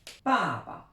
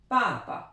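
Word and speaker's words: 爸爸: Normalement c'est quatrième ton et quatrième ton, mais quand on a deux fois la même syllabe, les Chinois transforment ce ton en ton neutre, c'est-à-dire sans aucun ton. Donc on insiste bien sur la première syllabe, papa.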